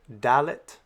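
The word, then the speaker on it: ד: Next we have the letter Dalet. Dalet makes a D sound like the letter D in the English word dig.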